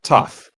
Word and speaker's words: Toph: Yeah, Toph. Toph. Okay. There's a joke later. I won't spoil the setup for it, but just know that it's Toph, like tough. Oh, okay. I remember. I'll remember that. Toph defeated McFoley.